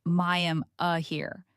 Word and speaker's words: Miami: Your first town of real interest is Miami. And before you say it wrong, it's pronounced my am here. Not like the city in Florida.